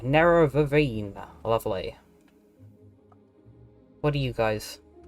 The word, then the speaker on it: Nerevarine: are these like the i've been pronouncing never in completely wrong nero vevine lovely what are you